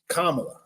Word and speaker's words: Kamala: say her name anymore Nancy how do I say her name again kamla so one please leave